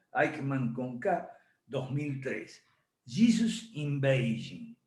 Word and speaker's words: Aikman: equilibrio de poder mundial deivid aikman se pronuncia así se escribe como suena aikman conca 2003 jesús en